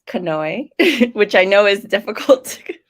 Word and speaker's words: Kanoe: skin in a better healthier place and it's pronounced kanoe which i know is difficult if you're not